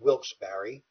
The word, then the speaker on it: Wilkes-Barre: pennsylvania in 1824 in a little town called wilkes-barre by the way that is how it's pronounced not a typo error and he had